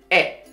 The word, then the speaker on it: へ: japanese language is particle e in in alphabet it is written as hai but if you use it as particle so it is pronounced as e particle a used to